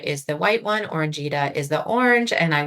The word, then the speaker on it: Orangita: Let's talk about, is it Casperita and Orangita?